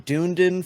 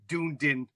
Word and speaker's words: Dunedin: the two dates it's uh October 7th in Dunedin Florida wait wait wait no it's uh this